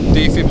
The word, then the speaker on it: Defib: always says it wrong it's the real defib defib is one word like the fibulator literally